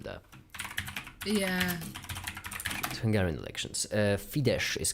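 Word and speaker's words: Fidesz: yeah Hungarian elections uh fides is called right I'm doing it from me with an S because that's an S and a z and we pronounce it as an S fides all right in Poland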